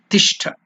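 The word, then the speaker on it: तिष्ठ: Tishtha. That's the Sanskrit word. Ti. Ta plus E. Ti. It is not elongated, it is Hrasva.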